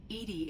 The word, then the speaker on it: EDI: what's bothering my named Edie Edie is the phonetic pronunciation of EDI that is an acronym